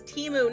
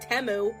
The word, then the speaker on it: Temu: they're freaking gaslighting you the name of the company is teu not temu I'm going to be